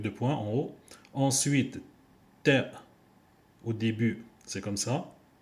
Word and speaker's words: ت: Harf Ta, c'est la lettre qui correspond en français la lettre ta t.